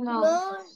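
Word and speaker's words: knowledge: vocabulary vocabulary and এন্ড নলেজ নলেজ নলেজ নলেজ এখানে ডি টা silent থাকবে ঠিক আছে তুমি খেয়াল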